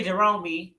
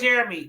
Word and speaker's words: Jeremy: You said pronounce Jeremy. Yep, Jeremy. Yep. I figured it out. I was like, it can't be Jerome. No, that looks like Jeremy.